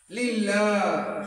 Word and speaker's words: لله: লিল্লাহ। সবাই বলো আলহামদুর পরের শব্দটি কি? লিল্লাহ। সবাই একসাথে উচ্চারণ করো, লিল্লাহ।